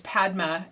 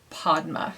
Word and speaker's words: Padma: that her name was padma and actually uh she pronounces it podma so i just wanted